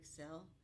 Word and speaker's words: Xcel: Their Celebrity Excel. That's their new ship coming out, and it's spelled XCEL, Celebrity Excel. So she will excel at everything, but it's spelled XCEL, so you don't get it wrong.